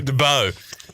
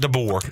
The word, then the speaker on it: DeBoer: Is that how they say his name in Alabama? Kalen DeBow? DeBow. Not DeBoer. DeBow. DeBow.